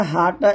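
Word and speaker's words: ح: তারপরে হাটা, এই হাটা আমরা গলার শুরু থেকে পাতলা করে বলবো, হা জবর হা, হা জের হি, হা পেশ হু, হা হি হু।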